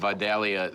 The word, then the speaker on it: Vidalia: And we're right at the height of Vidalia season, What are the months?